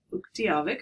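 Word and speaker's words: Utqiagvik: And so the first place I ever went to in Alaska was Barrow, which, of course, now is Uktiavik. Am I pronouncing that correctly?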